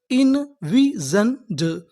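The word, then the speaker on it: envisioned: हैं ड तो हमारी पूरी मीनिंग क्या बनी इनविजंड इनविजनंड इनविज़ेंड इनविज़ का मतलब होता है कल्पना करना।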